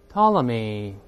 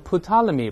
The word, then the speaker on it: Ptolemy: perspective, perspective, despise, despise, Aristotelian, Aristotelian, Aristotle, Aristotle, Ptolemy. 注意这个词 T 不发，前面这个 P 不发音。不要读成 Ptolemy，不对，再来一遍 Ptolemy，